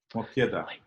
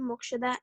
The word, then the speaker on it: Mokshada: Hi, I'm Mokshada and I'm in grade 8. Okay. Somehow your name is spelled differently in here. Oh, that's how it's spelled. It's Okay, all right. So pronunciation is different.